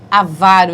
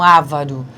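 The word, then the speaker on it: avaro: do avário não é porque a varo e não ávaro porque vende Avarento não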